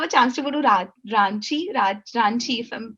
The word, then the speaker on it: Ranchi: Did you have a chance to go to Ranchi, if I'm pronouncing it Yeah.